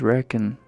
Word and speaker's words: Rekken: It doesn't quite flow. It's not really a rhyme because the first syllable and the first syllable sound isn't rhyming. The second syllable sounds sure. Yachi-san? Oh shoot. Cool aunt's girlfriend. If my name was Rekken, not Rekken, if it was Rekken with an I, sure, I would rhyme with chicken.